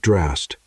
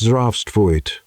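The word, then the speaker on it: здравствуйте: "No, it's not drast. It's zdravstvuyte, with an E at the end."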